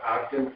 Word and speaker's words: Ogden: Ogden, O-G-D-E-N, owner. Can you spell that again for me? Sure, first name is, second name is O-G-D-E-N, Ogden, like Ogden, Utah.